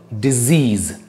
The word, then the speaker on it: disease: And guys, the word disease, this word is pronounced as disease. Disease, okay, disease. Because there are two words. Two words hain, ek hota disease aur ek hota decease. Decease.